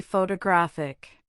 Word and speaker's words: photographic: For example, say the word photograph. Now say photographer. Finally, say photographic. Notice how the stress shifts.